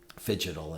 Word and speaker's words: phygital: So pronounce that word for me, the physical and digital, slowly. Phygital. Fidgetal. Yeah, fidgetal. Yeah. Because it sounds like I'm fidgeting.